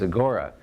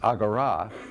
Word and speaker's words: AGORA: in greek it's pronounced agarah it's the meeting place in a greek city state right so uh so javiera tells me don't i know the final alpha is accented in greek and i check with